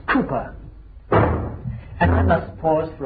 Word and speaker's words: Cowper: I've written William Cowper, c o w p e r, but pronounced in those days Cooper. And I must pause for a few moments to tell you uh who Cooper was.